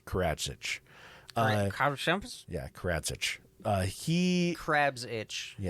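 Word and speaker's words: Karadžić: here so the leader of serbia um radovan karachiks karachik perfect perfect that's exactly how it's pronounced crazy there we go it's karachitch uh yeah karadzic uh he crabs itch yeah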